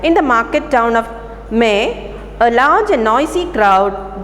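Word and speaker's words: Meung: So this happened in a place called May, that is M-E-U-N-G is pronounced as M-E-H.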